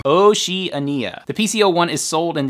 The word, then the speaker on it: Oceania: the asia and oceania i looked at the pronunciation it's not oceania oceania oceania asia oceania 20 minutes later oh she ania the pc01 is sold